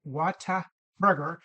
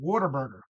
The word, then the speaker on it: Whataburger: Anyway, so Whataburger, that's pronounced Whataburger, but if you're a true Southern with a Southern accent, you pronounce it Waterburger.